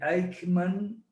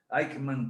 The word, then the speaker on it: Aikman: equilibrio de poder mundial deivid aikman se pronuncia así se escribe como suena aikman conca 2003 jesús en